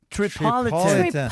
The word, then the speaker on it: Tripolitan: ah tripol time okay how do you say tripol Trel trelix excuse me tripolitan tripolitan tripolitan wow it sounds like